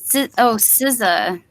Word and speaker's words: SZA: No, Z, Oh. as in Zed. Wait. some what zero is- American. Yeah, SZA. Oh, SZA. Oh. That's how you pronounce it? SZA, and it's SZA.